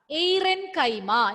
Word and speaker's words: aerenchyma: It is related to which word? Anybody? Focus on the first part. Aerial. Huh? Air. See the pronunciation and tell me. Aerenchyma. Somebody? Oh? Okay. No, aerenchyma. What is the starting word? Aerenchyma. So which word you are reminded of when you hear this? Air. Correct. Air.